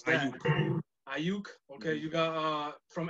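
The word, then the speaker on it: Aiyuk: Their second first-round pick, they took wide receiver Brandon Ayuk. It's the only way I know how to pronounce that. Ayuk.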